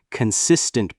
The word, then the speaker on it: consistent: Notice how native speakers stress certain words like consistent practice. They stress the con part and make it flow smoothly.